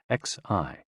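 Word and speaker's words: xi: with the spleen and x-i pronounced like she which connects the whole body the following poem by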